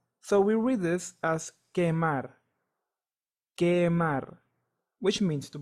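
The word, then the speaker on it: quemar: the letter u but the letter U is always silent in this case if I read the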